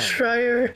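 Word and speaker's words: Schreier: Shrier Shrier.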